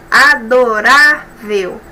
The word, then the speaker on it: adorável: vizinha é muito adorável adorável paroxítona antes a penúltima sílaba mais forte e é terminado diferente